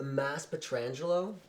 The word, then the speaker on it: Mass Petrangelo: This is Mass Petrolangelo. Mass. Well, It's actually pronounced Mass Petrangelo.